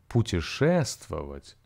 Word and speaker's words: путешествовать: Now, путешествовать has five syllables. Путешествовать. And the stress falls on the middle syllable.